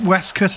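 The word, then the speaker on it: waistcoat: her West cut and she pronounced it West cut as well fantastic work I think we should all start pronouncing it West cut now it's about the time we should stop calling waste coats waste coats it's Tom Adams the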